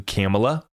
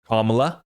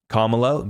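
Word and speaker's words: Kamala: Larson another $10 million worth of xrp to camela sorry comma I'm trying to get the pronunciation correct for everybody out there kamla kamla gets another $10 million worth of xrp from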